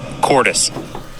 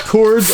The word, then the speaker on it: Cordis: message him on Facebook so now you're getting the extra syllable too it's not Performance Racing it's ctis Performance Racing so he asked him man himself and this is It's pronounced Cordis Cordis so it's not